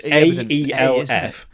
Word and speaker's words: Aelf: Elves have become Elf. So it's AELF.